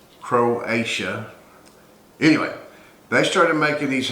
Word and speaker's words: Croatia: they're made in creolesia creation i'm saying it wrong croatia anyway they started making